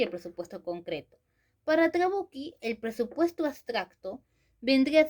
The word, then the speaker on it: Trabucchi: el autor Trabucchi, se escribe Trabucci, pero se pronuncia Trabucchi, por cierto, nos dice que para él, esta estructura sería así: el presupuesto abstracto y el presupuesto concreto. Para Trabucchi, el presupuesto abstracto vendría a ser la situación